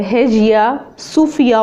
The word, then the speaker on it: Hagia Sophia: हम रीड करने लगे हैं है जिया इसका प्रोनाउंस है है जिया सूफिया वास originally built in 537 सीई बाय द